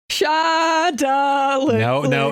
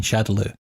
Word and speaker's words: Shadaloo: I believe it was meant to be Shadow Law, but with Japanese pronunciation of English words, for some reason it got stuck as Shadaloo, and it's been that way since.